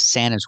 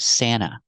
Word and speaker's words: Santa: workshop and this is Santa's Workshop we see the pronunciation of Santa when you have NT between vowels you don't hear the T you hear Santa Santa this is Santa's workshop